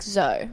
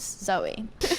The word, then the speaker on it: Zoë: My fun fact is that my name on the E, there's 2 dots on it. They're called umlaut, and it makes you pronounce the E sound. So instead of being like Zoe, my name's Zoe.